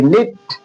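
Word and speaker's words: knit: इसीलिए के एन आई टी निट, के एन है, इस वजह से के इसमें साइलेंट हो जा रहा है।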